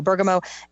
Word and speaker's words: bergamot: Bergamot, it's spelled Bergmot, I think. T is at the end, though. Bergamot.